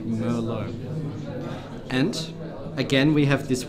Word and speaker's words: Merlot: Now be careful, because in Czech the pronunciation is Merlot, but in international language we would say Merlot.